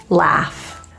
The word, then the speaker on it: laugh: the A's are a the spelling Au as in laugh that U just imagine it's not there it's gone laugh the spelling AI in